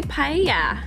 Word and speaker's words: paella: Do they have any paella in I would assume so, right?